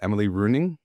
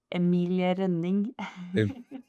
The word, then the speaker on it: Emilie Rønning: And I have uh how do how do we pronounce it? Emily runing. Is that the the right way to do it? No, it's my correct way would be Emiling.